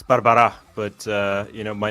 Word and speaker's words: Barbara': hate doing that so I'm going to say Barbara close it's Barbara but uh you know